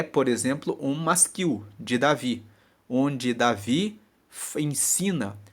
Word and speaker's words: masquil: Salmos são masquil o que é um masquil se escreve m a s q u i l masquil são palavras de instrução são Salmos que